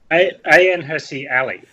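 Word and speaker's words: Ayaan Hirsi Ali: Stephen how's how do we say a name a hery Ali yeah awesome pronunciation there well done yep she's a a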